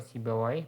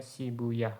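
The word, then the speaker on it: Sibawayh: Jadi kalau sibawahi berarti bacanya sibuyah gitu ya.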